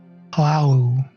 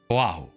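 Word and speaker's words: Po'ahu: Oahu. Oahu. That's how Wow. I'm pronouncing it.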